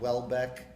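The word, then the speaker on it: Houellebecq: like uh there's this guy called Welbeck that's spelled hul Beck he's this really dirty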